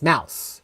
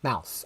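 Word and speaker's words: Maus: It's pronounced like Mal from China with an s. Mouse. Mouse.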